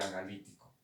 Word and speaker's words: analítico: el gráfico y el analítico. El gráfico, vamos a poner un ejemplo. Analítico, acento en la I.